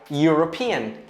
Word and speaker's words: European: Otra palabra, por ejemplo, sería European. A pesar de que se escribe con vocal, tiene sonido de consonante. El mismo sonido, y.